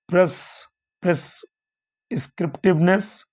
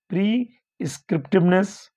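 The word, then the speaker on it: prescriptiveness: Okay, it's answer is B, principle of नहीं sorry यहाँ उच्चारण ऐसे होगा, प्रीस्क्रिप्टिवनेस।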